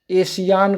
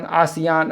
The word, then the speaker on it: ASEAN: एशियान, आसियान, ऐसे pronunciation आपको मिलता है हर प्रैक्टिस सेट में या वीडियो में बताता हूँ कि हिंदी में इस तरह के प्रोनाउंसिएशन में चीज़ें आपको देखने को मिलेंगी, आप इसको समझ सकते हैं।